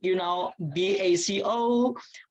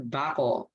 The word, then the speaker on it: Baco: So like the same my name, BACO. Indonesian call me Baco, but actually pronounced into English, Mr. Bako.